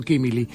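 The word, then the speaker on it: Quimilí: FM del Monte está en Quimili, acento en la I, ¿no? Quimili, pero bueno, son cosas que está bien corregirlas al aire, ¿no?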